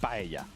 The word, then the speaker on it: paella: Paella. El- Ah. But the most That I know important one is the paella.